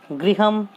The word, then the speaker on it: गृह: कई लोग री का उच्चारण ड्र करते हैं जो कि गलत है, जैसे लोग गृह शब्द को ग्रह बोलते हैं तो गलत है।